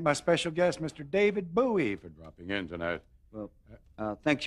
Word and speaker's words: Bowie: David Bowie thank you for having me but I should it's actually pronounced Bowie stay with Bowie right well that's close enough